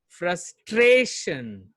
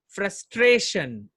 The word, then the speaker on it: frustration: अब देखिए यहाँ पे इसका जो प्रोनाउंसिएशन होगा उसमें ट्रे में ज्यादा साउंड होगा, ज्यादा एम्फेसिस होगा. फ्रस्ट्रेशन. फ्रस्ट नॉर्मली होगा, ट्रे थोड़ा सा हाई पिच में होगा. फ्रस्ट्रेशन.